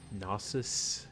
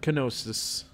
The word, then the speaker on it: gnosis: gnosis in his house pronounced gnosis gnosis it's not canosa's we are in the